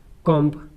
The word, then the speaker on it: comb: अगर एम के बाद बी आ जाए तो बी को साइलेंट कर देते हैं। जैसे COMB कॉम्ब, BOMB बॉम्ब, CLIMB क्लाइंब, DUMB डम।